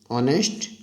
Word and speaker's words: honest: Honest man. Also there, the first letter is H. H is consonant, but when we will pronounce it, the pronunciation is honest.